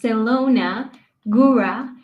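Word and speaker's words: Zielona Góra: For our listeners, that's pronounced Selona, Gura, and Livia is pronounced Livia.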